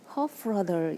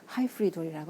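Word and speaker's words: Hyfrydol: 들었었는데요 이게 왜 단어인데요 웨일즈 시계 발음을 하면 hope frother 이렇게 한다고 합니다 영어로 발음할 때 하이프리돈이라고 하는데요이 뜻이 딜라이트 불이라고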